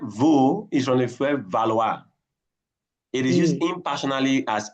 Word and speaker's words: valoir: Valoir means to what. Wait, sorry. I thought valoir is to want. No, that's vouloir. Okay, sorry. You see you see pronunciation valoir now?